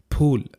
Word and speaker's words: फूल: इसे आप क्या पढ़ेंगे अगर आप इसे फूल पढ़ते हैं तो आपने इसका उच्चारण गलत किया है हिंदी भाषा में इसका उच्चारण है फूल आपके होंठ एक दूसरे से टकराने चाहिए बच्चों फूल अब आप कहेंगे